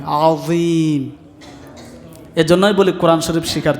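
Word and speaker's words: عظيم: আস্তাগফিরুল্লাহাল আযীম, য অনেকে বলে আজিম, আজিম না, জিম না, এটা য নরম হবে, আযীম।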